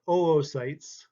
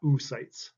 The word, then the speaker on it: oocyte: These are oocytes, not oocytes.